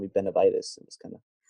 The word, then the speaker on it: Benavides: Benavides, yeah.